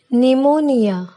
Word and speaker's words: pneumonia: Letter P is silent at the beginning of many words using the combinations PS and PN. For example, psalm, psychology, pneumonia, pneumatic.